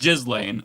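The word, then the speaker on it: Ghislaine: I I'm more mature, so I'm going to pronounce her name the way it is. It's just Jiz Lane.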